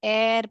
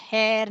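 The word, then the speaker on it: heir: So Ratan ji is elder son एंड ह इसको है साइलेंट है बेटा। तो एयर पढ़ने का इसको ओके। राइट। एयर एयर पढ़ने का। हेयर नहीं पढ़ने का इसको।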